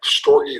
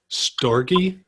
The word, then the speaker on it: storge: Storge? S-T-O-R-G-E. Pronounced storge? Sure. Storgy.